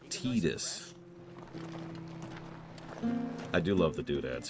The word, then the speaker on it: Tidus: Listen, it's pronounced Tidus.